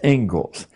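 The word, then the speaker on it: Inglis: is the Engles lecture looks like English but it's pronounced Engles and I would like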